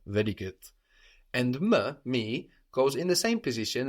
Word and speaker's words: me: It's written me just like in English, so how should that sound in French? Me. Very good. With a weak like in je, like in le, me.